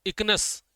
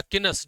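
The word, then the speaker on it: Echinus: एक होता है आपका किनस, इकनस या किनस, जो भी आपका प्रोनाउंसिएशन हो, ई बेसिकली इसमें साइलेंट है, तो एक आपका होता है किनस।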